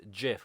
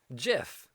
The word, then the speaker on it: GIF: put on their labels gif or as it supposedly actually pronounced jiff Wow so this